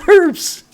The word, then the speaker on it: herbs: this damn tree getting herbs okay and we call it herbs in europe i know americans call it herbs with the silent h there's a whole video